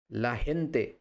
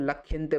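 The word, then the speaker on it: la gente: সিউদাদি শিখব লািউদাদ এলপাইস এলপাইস মানে হচ্ছে দেশ লাহেন্তে লাহেন্তে হচ্ছে মানুষ বা লোক এবার এটা হচ্ছে অনেকে স্পেনে যদি বলে তখন লাখেন্তে বলে খেন্তে তো এই উচ্চারণগুলো আপনাদের যদি জানা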